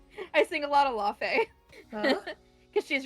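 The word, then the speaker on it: Laufey: I sing a lot of Lafe. Because she's right. That's how you pronounce Laffy? Yeah. Thought it was Laffy.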